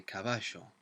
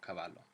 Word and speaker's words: caballo: or Montevideo in Uruguay who might say caballo, so it's more of an SH sound. So any of those are perfectly fine. It's just important that we don't pronounce it as an L, so not caballo.